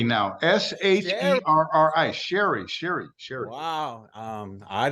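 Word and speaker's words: Sherri: it's Miss Charlotte am I pronouncing that correctly Larry no it's Sherry now s-h-e-r-r-i Sherry Sherry Sherry wow um I didn't know about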